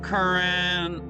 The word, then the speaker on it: currant: It's spelled with an A, not an E, even though it's pronounced the same.